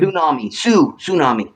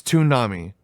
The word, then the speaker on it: Toonami: Tsunami. No, it's Toonami. Toon. But it's spelled tsunami. No, it's Toonami. There's no S.